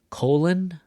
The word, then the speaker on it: colon: So the difference between the words colon or Cologne. Colon, cologne. Where do you hear the stress in the second word? Okay, it's gonna be on this part.